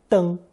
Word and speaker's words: 登: It's pronounced first tone, deng.